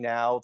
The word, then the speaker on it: Gnau: my name uh now last name is spelled gnau uh you go to